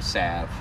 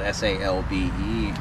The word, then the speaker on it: salve: So all this is for is to thicken it up, so it's, you know, a salve. And I know it's spelled S-A-L-V-E, and it's pronounced salve, not salve.